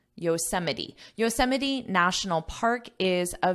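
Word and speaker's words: Yosemite: English spelling and pronunciation you can't learn the pronunciation from the spelling so just ignore the word listen to my voice Yos Yos Yos Yos National Park is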